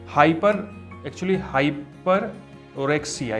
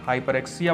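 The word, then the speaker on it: hyperorexia: हाइपर ओरेक्सिया इसको बोलते हैं। ओरेक्सिया नहीं बोलते, ओ साइलेंट हो जाता है, हाइपरएक्सिया बोलते हैं।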